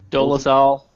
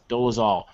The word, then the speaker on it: Dolezal: How do we pronounce her name again? Dolezal. Dolezal.